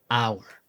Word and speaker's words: hour: However, note that in some words of French or vulgar Latin, the H is silent.